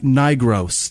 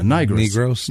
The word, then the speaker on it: Nigro: Bernhardt, Sally Norris, Elizabeth Nigros, that's what that is. All right. Yeah, Nigros. No. Oh, it's just Nigro. That's what it is. Oh. Because she said it's pronounced like nitro.